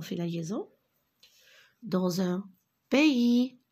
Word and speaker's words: pays: Il était une fois, regardez, O-I, fois, dans un, regardez ici, on fait la liaison, dans un pays, le S, je ne le prononce pas, dans un pays lointain, regardez, loin, ici, O-I-N, je le prononce loin, A-I-N, 1.